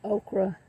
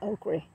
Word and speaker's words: okra: beds that's okra leaves I know people pronounce it okra in the South we call it okri it's just always been